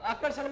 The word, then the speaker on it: आकर्षण: ठीक है तो आकर्षण में बोलो आप, आकर्षण, आकर्षण में हाँ आकर,